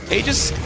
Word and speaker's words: Aegis: well yeah hey man you're the one who's who pronounces it egis so I know you got you got the technically correct thing going for you Aegis Mana Aegis is true as well it is true it's